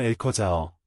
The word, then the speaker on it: Alcázar: 어원하 스페인어 용어 엘커자어 엘카로 발음는 라틴어 캐스트럼에서 파생된 성 또는 궁전을 의미하는 아랍버에서 유래했습니다.